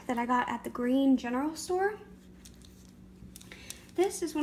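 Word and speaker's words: Gruene: small Texas town called Green it's pronounced like the color green but it's spelled like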